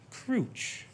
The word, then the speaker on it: Crooch: So it's pronounced Crouch.